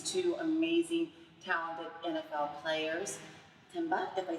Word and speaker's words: Tamba: segments with these two amazing talented NFL players Timba if I said it wrong H it always trips me up to say his name can you pronounce your name Tamba Tamba Hal tah Hali of course we know